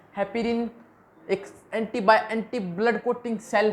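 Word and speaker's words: heparin: चलो मैं बता देता हूँ क्या नाम इसका, हेपेरिन। अब की बार मेरी प्रोनाउंसिएशन बिल्कुल ठीक है, अब शक मत करना।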